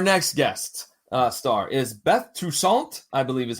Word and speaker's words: Toussaint: Our next guest star is Beth Toussaint, I believe is how it's pronounced, as Andrea Todd.